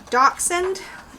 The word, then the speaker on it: Dachshund: It is a Dachshund.